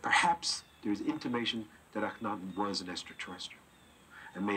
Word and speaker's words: Akhenaten: About Akhenaten, the proper pronunciation for this is Akhenaten, means the shadow of Aton.